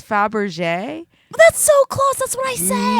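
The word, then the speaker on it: Fabergé: Bab ashame no it's not it's fab rachet Faberge I say she can't say it once then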